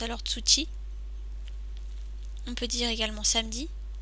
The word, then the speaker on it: 土: On le prononce généralement do ou to.